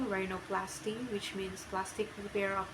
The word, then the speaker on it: rhinoplasty: RH, pronunciation R, example rhinoplasty, which means plastic repair of the nose.